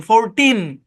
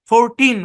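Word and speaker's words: fourteen: 14 না কিন্তু, 40 গুলো কিন্তু অন্য কিছু হয়ে যাবো, ওটা আলাদা। 14, এনটা ক্লিয়ারলি উচ্চারণ করবেন, 14। 14।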